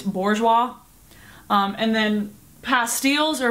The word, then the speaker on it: bourgeois: were really weird like I say boua but apparently it's Bourgeois um and then pastels